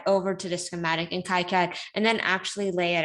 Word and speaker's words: KiCad: PCB design software called kaikat I know some people also call it keycad I'm used to calling it Kai cab so I'm going to stick with that pronunciation So today we're also